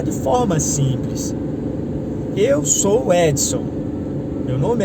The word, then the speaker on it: Edson: No espanhol, se eu não me engano, a pronúncia Edson é Exxon, algo parecido assim. No inglês eu não sei bem se seria Edson, Edison, não sei o inglês, mas eu sei que a pronúncia varia por causa do idioma.